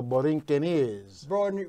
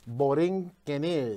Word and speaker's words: Borinqueneers: The way that you pronounce the name of the 65th Infantry Regiment is the Borinqueneers. Say it again. Borinqueneers.